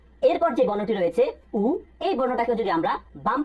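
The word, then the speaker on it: ㅜ: আমরা এই উর উচ্চারণ করার সময় সামনের দুই দাঁত একসাথে করে উচ্চারণ করব।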